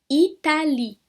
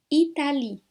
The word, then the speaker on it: Italie: Como se esse Ezinho não existisse. Italie. Italie, que é o país, Itália. Italie. Donc, esse E aqui eu não pronuncio, tá?